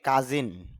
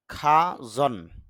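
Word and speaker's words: cousin: এটাকে আমরা সচরাচর উচ্চারণ বলি কাজিন, তবে আইপিএতে খেয়াল করলে দেখা যায় ক আ জ ন, খাজন।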